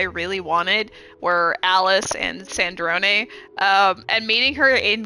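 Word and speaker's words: Sandrone: Yeah, I always pronounced it as Sand Drone. So when I heard it's Sandron, I was like, "Oh shit."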